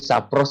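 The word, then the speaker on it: σαπρός: kita bisa tahu arti sapros itu sebenarnya adalah busuk. Itu tadi Sapros. itu bacanya seperti itu ya.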